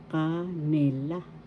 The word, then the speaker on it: kanila: they nila nila they ka na kanila first syllable ka second syllable third syllable la canila canila third syllable has the accent or also you could have